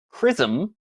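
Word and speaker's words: XRISM: uh the first one was called chrism spelled x-r-i-s-m I guess different from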